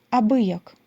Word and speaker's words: абияк: з російської мови фразу абияк наголос на и вона ладна була переїхати